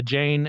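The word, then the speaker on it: Jain: own I don't know a Jane and uh j a i n I believe that's how it's pronounced I don't know anyone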